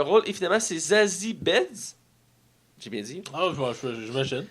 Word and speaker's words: Beetz: Et finalement, c'est Zazie Beetz. J'ai bien dit. Ah, j'imagine. Je sais pas si je le prononce mal, mais c'est Ben, nouveau. depuis qu'il y a deux E, ça doit être Beats.